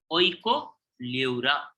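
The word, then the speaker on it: Oikopleura: So Herdmania, Doliolum, and Oicoleura. Oicoleura. P is silent.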